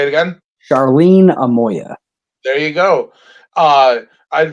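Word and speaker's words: Charlene Amoia: i met your mother charlene say it again charlene amoya there you go uh i for those of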